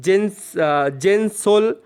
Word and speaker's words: जेंसोल: और ये जो डील है दोस्तों, जेंसोल जो कंपनी है, जेंसोल इंजीनियरिंग, ऐसा आप यहाँ पर कंपनी का नाम प्रोनाउंस कर सकते हैं।